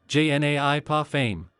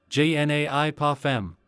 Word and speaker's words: je n'ai pas faim: Non merci, je n'ai pas faim. Only I pronounce it, je n'ai pas faim.